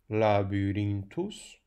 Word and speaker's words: Labyrinthus: Notem, Labyrinthus. O acento tónico cai em irim. Porquê? Porque aquele i tem a seguir uma série de consoantes. Portanto, a sílaba fica longa, o acento recai ali.